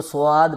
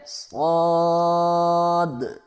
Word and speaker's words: صاد: کچھ لوگ اس کو سواد پڑھتے ہیں اور کچھ لوگ اس کو صاد پڑھتے ہیں، تو یہ دونوں طرح غلط ہے، بلکہ اس کا اصل تلفظ یہ ہے صاد۔ اگلا حرف ہمارے پاس